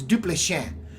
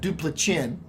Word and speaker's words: Duplessis: It's Duplessis, not Duplichin. Duplessis.